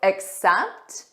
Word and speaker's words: accept: You probably knew it was I will accept your invitation. In this case, it's the pronunciation that is very similar and that might cause the confusion if you're using these.